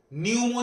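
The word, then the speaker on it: pneumo: with substance any substance न्यूमो जो term है पी एन ई यू एम ओ न्यूमो इसमें पी का जो है वो पी का प्रोनाउंसिएशन नहीं होता है दैट इज़ और इट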